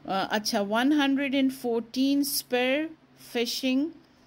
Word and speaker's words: phishing: फिशिंग ना, तो ये हालांकि इसकी स्पेलिंग पी से है लेकिन साउंड मतलब प्रोनाउंसिएशन इसका फिशिंग है, और वही के मछली को पकड़ लो ना, मतलब मछली हाथ में आ गई।